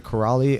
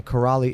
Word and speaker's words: Király: in my name name it's corali and it's with a K can you spell it please it's and then corali is k i r a l y and Cori and